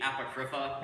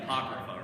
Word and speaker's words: Apocrypha: I think I probably mispronounced it at that time. It's like the Apocrypha. It's actually the Apocrypha, right? In the South, we like to put the emphasis on the first syllable, right?